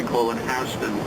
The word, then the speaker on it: Houston: here this would be houston street some people might pronounce it houston it's spelled the same way but here in new york we call it houston there's a big city in texas called houston